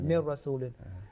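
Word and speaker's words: مِن رَّسُولٍ: So what will be the pronunciation? Mir Rasul. Mir rasulin.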